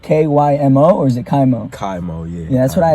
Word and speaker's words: KYMO: KYMO, yeah.